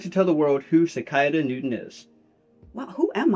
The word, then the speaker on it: Sikaiadah: Sikaiadah. 4 syllables. You're correct.